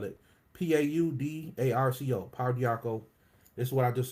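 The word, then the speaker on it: pau d'arco: to this the paradox of course you know paul diarco that's how you spell it p-a-u-d-a-r-c-o power diaco this is what i just was talking about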